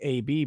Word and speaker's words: Abby: First name's pronounced like AB, by the way.